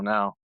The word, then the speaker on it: Nao: like, I don't know, probably 25 years ago now, which is crazy.